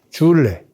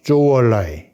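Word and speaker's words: 저우언라이: 동지이면서 또 모택동 밑에서 국무원 총리를 오래 한 주얼레, 중국 발음으로는 마오쩌둥과 조우얼라이.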